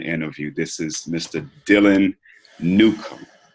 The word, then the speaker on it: Newcomb: Dylan Newcomb say the last thing cuz I know I butchered it Newcomb des a correctly Newcomb yeah Oh Newcomb okay thank you yeah so